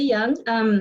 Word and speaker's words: Duong: My name is Young. The D is pronounced like a Y in Vietnamese, but you would never have known that unless I shared it with you.